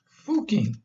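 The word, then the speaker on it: Fucking: In Austria, it's pronounced Fooking.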